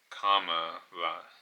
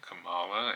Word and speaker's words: Kamala: book she wrote that the proper pronunciation of a name is comma like the punctuation um Kamala so it's not Kamala it's Kamala and um that just